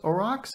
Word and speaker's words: aurochs: is to do with it but it is pronounced aurochs i did a pronunciation thing because honestly i